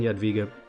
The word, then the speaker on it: Jadwiga: I think W is pronounced a V in Polish. We're going to play Jadwiga.